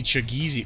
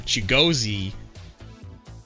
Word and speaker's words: Chigozi: We should see Chagizi. Well, he only has 25 stamina. He pitched 2 innings. He might not be him. No, there it is. I said his name wrong. Chigozi.